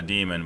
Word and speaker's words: daemon: not go there say what'd you call it a demon but it's spelled daemon what's a demon so